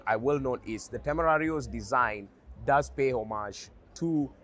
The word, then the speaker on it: Temerario: If you want a more authentic pronunciation, this would be the Lamborghini Tamario.